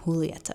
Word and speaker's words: Julieta: Julieta told me how to pronounce her name, Julieta.